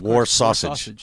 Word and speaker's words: Warsaw Sage: this little band called, it's spelled Warsaw Sage, but it's pronounced War Sausage.